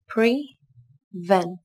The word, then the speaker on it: prevent: Các bạn lưu ý từ này có 2 âm tiết, trọng âm rơi vào âm tiết thứ hai nhé. Từ này đồng thời có chứa phụ âm liên tiếp p và r. Các bạn đọc nối với nhau nhé.